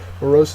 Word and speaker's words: morose: next word is morose morose is an adjective second syllable is accented it is having a